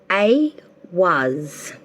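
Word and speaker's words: Ehwaz: So for Cancer, okay, from the Ruin deck, Cancer, the card you got is pronounced A was, and it means horse or travel.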